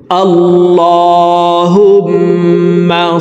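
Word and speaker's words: الله: আমার সঙ্গে কয়েকবার বললেই আপনাদের দরুদ শরীফ মুখস্ত হয়ে যাবে এবং সহী শুদ্ধ উচ্চারণ হয়ে যাবে। আল্লাহুম্মা সাললি আলা আল্লাহ এই লামকে ল বলে পড়তে হবে।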